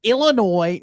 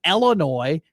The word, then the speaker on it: Illinois: I've never said to you, it's Illinois, not Illinois, right?